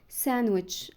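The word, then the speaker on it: sandwich: هاندسم لا هانسم هانسم ساندوتش ايوه الكلمه اللي احنا كلنا بنقول عليها ساندوتش ساندوتشات لا دي غلط هي اسمها ساندوتش اور ساندوتشز ساندوتش اور ساندوتشز في المفرد او الجمع فمنطقش الدي غلط ساندوتش وينز داي وينز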